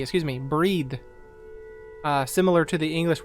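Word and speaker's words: Bríd: a famous irish saint it's pronounced with a long e excuse me breed uh similar to the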